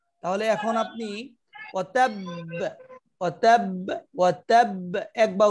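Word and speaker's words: وَتَبَّ: ওয়াতাব, এই বে এটা হলো কলকলা। যদি আমি এখানে ওয়াতাব বলি ওয়াতাব, তাহলে তো এক বায়ের উচ্চারণ হবে, ঠিক পরের এই যে কাসাবের মতো এখানে কাসাব পড়বো, কিন্তু এখানে তো দুইটা বা এবং উভয় বাই সাকিন এবং বাটাই কলকলার হরফ।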